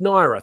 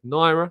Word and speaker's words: Nwaneri: very much appreciate your time as always it's pronounced naira thank you Joe always appreciate that um always